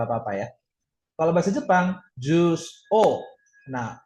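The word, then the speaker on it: を: Kalau bahasa Jepang, jus o. Nah, O-nya pakai hiragana wo, bukan pakai hiragana O. Ya, jadi dibacanya jus O, bukan jus wo.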